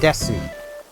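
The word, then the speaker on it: です: So, like, des, or desu. It's, de and su together, but it seems to be pronounced des.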